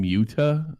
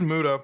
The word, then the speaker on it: Muda: to say your name muta is that no it's just muda like that's all it is muda mudar he's not a